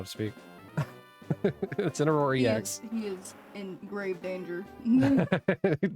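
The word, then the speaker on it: Incineroar: Uh, Incinor. Yes, good job. I'm proud of you. It's like teaching like a four-year-old how to speak. Incinor.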